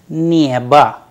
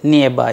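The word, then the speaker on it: небо: neba which means sky there you can see how the word neva is written it's written n a b o whereas the pronunciation is nearby nearby because the stress is on ye that is why the pronunciation of the word neba comes like neva as if the last vowel is ah not o so probably now you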